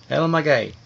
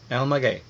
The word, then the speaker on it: El Maguey: was our waiter and he said it was el magay el magay so there we go we went to alma